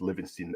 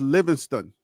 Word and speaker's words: Livingston: defense showed up with living Stein at the head at the H just to correct you it's not living Stein is Livingston sorry my uh my